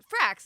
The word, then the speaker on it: Frakes: was directed by Jonathan Frakes, who plays Riker. Jonathan Frakes, Riker, what? Yeah. He's a great director. So Frakes, not Franks, Frakes.